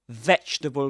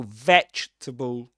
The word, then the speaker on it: vegetable: So, vegetable. Vegetable. Vegetable. Only three syllables. And this word reminds me a lot of the pronunciation of another word comfortable, you know, because both in writing in spelling you'll see you see four syllables, right?